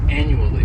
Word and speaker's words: annually: first adverb is annually this word has four syllables and the stress is on that first syllable the second syllable it's like you're just saying that letter U and the third syllable has that schw annually anually and this